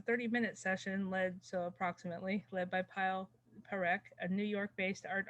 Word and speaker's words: Parekh: and the pronunciation is going to be Parekh.